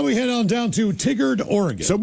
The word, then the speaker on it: Tigard: It's pronounced Tigard.